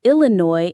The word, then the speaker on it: Illinois: And finally, number 20 is Illinois. I L L I N O I S Illinois. The IPA is Illinois in the US or Illinois in the UK. That final S is completely silent.